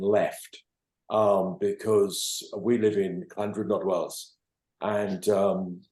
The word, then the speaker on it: Llandrindod Wells: Because we live in Llandrindod Wells, and every single local person pronounces it as Llandod.